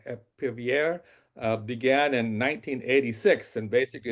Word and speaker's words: Épervier: And it and the French got involved and they call it operation, I don't speak French but how would you pronounce it? Épervier began in 1986 and basically the French decided to, you know help the Libyans, help the Chadians out in this fight.